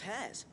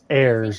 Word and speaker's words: heirs: We're Miss Minadol's hairs. Her hairs? Yeah, hairs for the future. She's showing us her secrets now, so we can help out the hideaway when we're older. It's pronounced heirs.